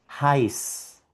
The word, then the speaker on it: heiß: Suena como una S. Veamos aquí las palabritas donde vemos la presencia de esta letra. Esto suena heiß, heiß y significa caliente.